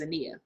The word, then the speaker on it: Zania: It's spelled the same way, but it's pronounced zinnia. My name is Zania.